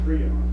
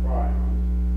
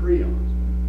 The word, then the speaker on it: prions: All right, the agents of chronic wasting disease are called prions, and that's the way they're pronounced, prions, not prions. They're pronounced prions.